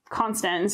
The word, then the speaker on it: Constans: Constans is how his name is pronounced.